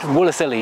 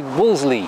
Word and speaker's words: Wolseley: it is spelled wooler silly but you don't pronounce it wooler silly just say Wolseley and if I'm saying Woolsey too quickly for